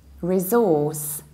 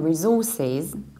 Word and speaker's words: resource: with s or sometimes you can say resource resource stressing the first level and this is actually a very typical American pronunciation because in the American